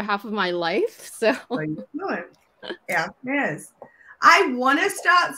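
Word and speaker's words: Hermès: How do we pronounce, is it Hermes? Hermes.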